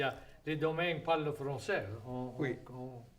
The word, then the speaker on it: Domingue: Mais domaine, c'est pas un nom français. Non, domaine, c'est une prononciation française d'un nom espagnol, Oui. qui oui. était autrefois Dominguez. Dominguez.